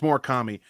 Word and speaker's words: Murakami: It's Murakami.